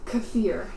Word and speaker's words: Cafir: to learn it what was your name again cfir cfir how do you spell that DM c a f i r c